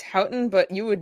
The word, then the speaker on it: Houghton: Well, it's Hton, but you would not